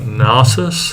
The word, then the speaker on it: Nasus: haven't really talked about nasus is that how you pronounce it yeah oh goodness okay you're